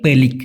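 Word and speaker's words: pelik: উচ্চারণ হবে পলে পলিক পেলিক যদি আমি পুরো আমার মতই উচ্চারণ করি হবে হচ্ছে পেলিক পেলিক কিন্তু মালয়েশিয়ানরা যদি শব্দের শেষে কে থাকে তাহলে ছোট করে উচ্চারণ করে তো ওরা ক এরকম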